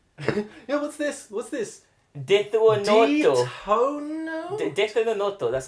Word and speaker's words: Death Note: Desunoto, that's how you say it.